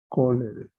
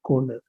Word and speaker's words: cholerae: La CH en latín se pronuncia como CO, cholerae. CH es como C. Y la terminación AE se pronuncia E.